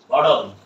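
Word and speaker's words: bottle: বোতল বলবো না, বি ও ডাবল টি এল ই বোতল। সারা জীবন আমরা কি বলছি? বোতল বলছি, তাই না? বোতল হবে না, এখন থেকে কি হবে? বটল।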